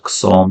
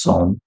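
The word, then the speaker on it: Csom: Maybe I'm pronouncing, maybe it's Som. It's not Ksom, it's Som. Yes, knight a3, it was played c5, knight takes c4.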